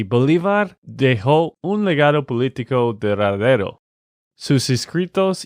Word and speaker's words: duradero: Nate, te quiero corregir la pronunciación de una de estas palabras. Es la palabra duradero. Bolívar dejó un legado político duradero.